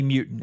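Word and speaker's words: Mutin: guy that we need to know uh definitely mutant it's spelt m-u-t-i-n but donovan mutant uh client collins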